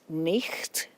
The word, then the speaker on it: night: So, for example, it's not day and night, it's nicht. So that GHT, there was a reason it was there in the spelling.